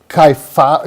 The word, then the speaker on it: kyphotic: And you know, hunchback or that kyphotic we got to get this pronunciation right.